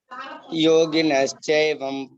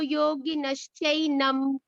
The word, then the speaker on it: योगिनश्चैनं: यतन्तो योगिनश्चैवं पश्यन्त्यात्मनवस्थितम्। एवं नहीं है बेटा, यतन्तो योगिनश्चैनं पश्यन्त्यात्मन्यवस्थितम् यतन्तोऽप्यकृतात्मानो अभ्यास करो बेटा, अभ्यास करो अभी इसको और अभी अच्छे।